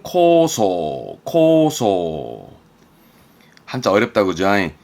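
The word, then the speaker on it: 構想: 발음은 코소.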